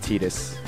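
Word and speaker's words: Tidus: be something okay I this is literally the first game where you know Titus's name is pronounced etus I wonder what Titus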